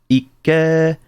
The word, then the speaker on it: IKKE: two Ks, IKKE, like, in Japanese, when you pronounce it, there's that pause, IKKE, right?